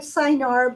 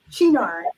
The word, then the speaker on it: Cynar: And one of the newer recipes calls for this particular Italian liqueur, which um, it looks like Cynar, but it is pronounced Chinar.